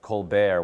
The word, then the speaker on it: Colbert: a pretentious name like kbear where you don't pronounce the T like especially to an